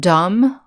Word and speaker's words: dumb: here are some other words that use the silent b doubt uh doubt is when you are not sure if something is true or real the word dumb right dumb means stupid